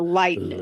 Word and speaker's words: Lightnin': No, but there's a comma where like the G should be. So, I know it's pronounced a Lightnin'.